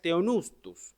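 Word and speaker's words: θεόπνευστος: Y esa palabra es teonustus, ¿okay? Así se pronuncia para el que quiera saberlo.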